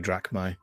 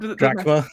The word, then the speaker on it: drachma: So that's my 2 coins, my 2 drachma, or however you. I forget how to pronounce that I word. understand. Drachma?